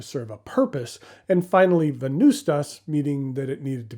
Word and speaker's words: Venvstas: It's spelled in Latin, where the letter U doesn't exist, but the phonetic sound of the letter does.